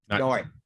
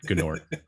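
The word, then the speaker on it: G'nort: Yes, and Nort was in charge, and that's how you say his name, by the way. Nort. Not Gnort. Not Nort. Nort.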